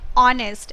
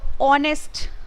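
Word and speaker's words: honest: है an elephant and ऑनेस्ट अब यहां पर देखिए एच है वो एक वा लेटर नहीं है लेकिन अगर आप इसको प्रोनाउंस करोगे तो ऑनेस्ट ओ साउंड यहां पर आता है इसीलिए हम एन यूज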